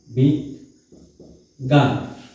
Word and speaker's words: বিজ্ঞান: এখানে কি হয়েছে ঐক্যতা এরপরে আছে কি বিজ্ঞান বিজ্ঞান আচ্ছা এটা কি হবে বিজ্ঞ তারপরে গয় জল আকার দন্দু বিজ গান বিজ্ঞান এখন এরকম হলো কেন একটা